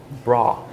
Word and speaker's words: bra: a bra yeah but Swedish is more like bra like a bit more stronger a I think and the stronger raw bra I'm on my way